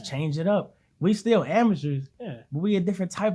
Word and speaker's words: Amycherz: But I didn't want to name it Amycherz like how it's spelled, because that's basic. You know what I'm saying? Amateurs, obviously, right?